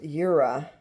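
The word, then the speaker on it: Jura: I guess this is pronounced ura. Like the J is a Y and it's a Swiss company that makes this.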